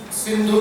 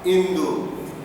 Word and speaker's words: Sindhu: Sindhu Nadi. Here we were pronouncing it as Sindhu. In Arabic they don't have sa. They have Indu, not Sindhu, Indu.